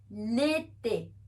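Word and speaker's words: l'été: combine the pronunciation so we'll have the pronunciation of el and ete together because the accents on both the E's are acute accents and they produce the sound e so we have liti foreign second season Winters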